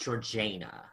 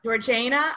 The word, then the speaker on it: Georgiana: her episode on Georgiana I've heard it pronounced georgana georgana I think we we might get to it later but I think it depends on um how Posh you are with how you say it but we could say